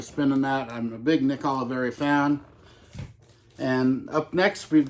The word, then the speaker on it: Nick Oliveri: with heavy psych sounds well heavy psych sounds pronounced Nick Oliveri no hits at all volume seven so Nick